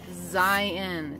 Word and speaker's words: Zion: a Rachel where are we Zion we're in Zion National Park spelled zi Owen for you out-of-staters please it is pronounced Zion zi e and okay just want to get